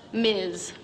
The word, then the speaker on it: Ms: front of our names Ms pronounced Miz but honey that ain't